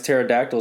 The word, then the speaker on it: pterodactyl: Why is pterodactyl spelled with a P? Pterodactyl spelled with a P? Yeah, but pterodactyl. I'm not even lying to you. I swear. What do you think? Fuck's wrong with English? Where do you think that word came from, or that joke came from? Why can't you hear a pterodactyl in the bathroom? Because his P is silent.